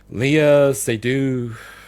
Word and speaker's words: Léa Seydoux: But he's joined by, I don't know how to pronounce her name, Léa Seydoux, like French. She's a French actress.